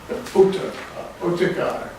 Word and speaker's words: Otakar: Oh, Otakar, yeah. Oh, Oh, Takar. yeah. Otakar. It's I've seen it spelled Ottakar and also Otakar.